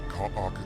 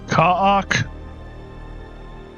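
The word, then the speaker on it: Kha'ak: leave him exposed to Kaok attacks. Kaak. So he pronounces it differently than her. talk. He used two syllables.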